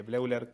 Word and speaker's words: Bleuler: Sí, bloiler. Eh, que blauler o bloiler, yo se escribe bleuler.